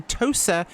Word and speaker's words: Tosa: It is definitely Tosa, not the expression you used, although I should say Italian in this case.